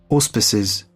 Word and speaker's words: auspices: Auspices. Instead of os, it's us.